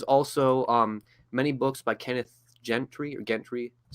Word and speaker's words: Gentry: There's also many books by Kenneth Gentry, that's how you say his name.